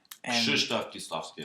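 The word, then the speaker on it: Krzysztof Kieślowski: Krzysztof Kieslowski, unfortunately, that's how you say his name.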